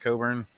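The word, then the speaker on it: Cockburn: It's spelled that way, but pronounced Coburn.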